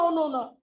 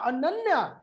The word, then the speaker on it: अनन्या: तो बाद में मैंने उसको पूछा बेटा कैन you tell me the spelling, और जब उसने बताया ANANYA तो मैंने कहा अच्छा अनन्या, and then again she said yes सर ओनोना, right, like rasgulla. बिल्कुल बिल्कुल राइट।